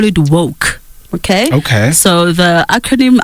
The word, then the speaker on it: W.O.C.E: and how I say it I call it woke okay okay so the acronym of I pronounce pronounce them as woke and what inspired